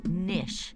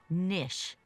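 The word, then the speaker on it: knish: Honey, it's pronounced Nish. The K is silent, and I have no idea.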